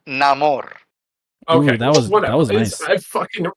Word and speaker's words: Namor: I didn't think we were going to get Namor back. That's really No, cool. I didn't either. I believe it's pronounced Namor.